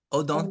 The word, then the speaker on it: Odent: Odon.